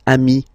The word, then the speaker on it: amis: Remember, if you want to put the plural form, then you just add this final S here. Okay, but then technically you pronounce it the same way. So singular form, ami. Plural form, you add this S, but it's ami as well.